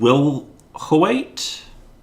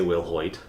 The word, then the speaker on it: Wilhoite: Kathleen Wilhoite? Wilhoite. I don't know how you pronounce that. I would say Will Hoyt, with how that's Wilhoite? spelled. Sure. With how that's spelled.